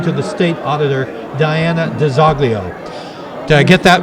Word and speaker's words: DiZoglio: I am Italian American, but I was born and raised in Methuen and Lawrence, and the way that I was told to say my name all growing up was DiZoglio.